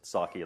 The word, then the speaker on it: psake: It is sake, like the Japanese rice wine.